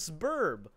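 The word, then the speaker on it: Sburb: It's called Suburb, like suburb. It's Suburb, S apostrophe burb, S-burb.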